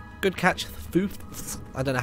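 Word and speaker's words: Foothz: Like, Foofs is spelled F-O-O-T-H-Z. And you want to say Footh. But then you want to put the Z in there as well.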